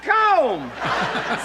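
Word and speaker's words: comb: ready is this C or Kum no that's com c MB com pom be poem no PO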